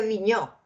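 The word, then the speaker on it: Vignaux: de Aristóteles revisa a viño yo puse el en el classroom este con b de Venezuela vigus se pronuncia viño este allí él trabaja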